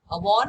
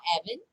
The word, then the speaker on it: Avon: Avon or Avon, either way you pronounce it, it is right, okay?